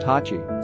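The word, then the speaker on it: 八: They resembled the kanji that represents the number 8, which in Japanese is pronounced Hachi, so he decided to name him Hachiko.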